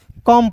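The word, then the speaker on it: come: सी ओ एम ई को क्या पढ़ते हैं दोस्तों? कम पढ़ते हैं। क्या पढ़ते हैं दोस्तों? कम पढ़ते हैं। अब देखिए यहां पे समझिएगा ओ और ई साइलेंट होता है।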